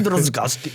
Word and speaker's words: Drozdowski: Drozdowski.